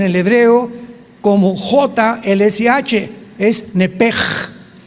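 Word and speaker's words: נפש: Neph se pronuncia en el hebreo como JLS, es nepej. Nep. Por eso el Espíritu Santo se pronuncia roaj, se escribe roach, ch. Roaj, el kadosh. Entonces, la sh se pronuncia como J.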